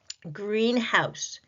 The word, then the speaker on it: greenhouse: Greenhouse, greenhouse. What are you hearing? Green. Compound noun, the first noun takes the stress.